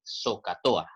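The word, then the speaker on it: SOHCAHTOA: técnica llamada soca tohá yo quiero que se aprendan esta palabra así como se pronuncia recordemos acá que la h pues no se pronuncia verdad la palabra se traduce así zocato a se pronuncia de esa manera y porque es importante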